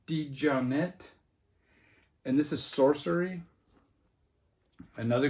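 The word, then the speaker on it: DeJohnette: is Jack D G this is how I used to say his name Jack digiante I guess it's uh Jack D johnette and this is sorcery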